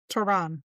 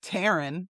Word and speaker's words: Tehran: Tehran. Yeah, not Taryn. It's not the girl down the street's name.